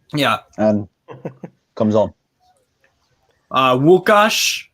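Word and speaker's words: Łukasz: and comes on uh wukash that's how you say it in polish uh nufc hawaii the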